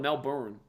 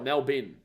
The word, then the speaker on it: Melbourne: yeah it is Melbourne they do call it Melbourne we call it melbin Melbourne it's like b-i-n that's how we say it but they literally pronunciate the o-u-r-n-e for tackle it has